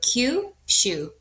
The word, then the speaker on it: Kyushu: So with kushu, what you're going to be doing is pretend that it's the letter Q followed by the word shu. So Q shu.